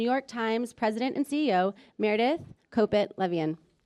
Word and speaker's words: Meredith Kopit Levien: the stage New York Times president and CEO Meredith Copit Levian. All right. Thank you so much for being here. Props for pronouncing my name right.